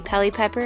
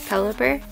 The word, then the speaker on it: Pelipper: fairy energy vada pelipper I always mispronounce s and SE pehly pepper I don't know why but it's pelipper we've got repel corsola